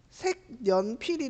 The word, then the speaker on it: 색연필: 2번부터 색연필은 먼저 니은 첨가가 일어나서 색연필이 되고 그 다음에 비음화가 일어나서 색연필이 되는 단어야.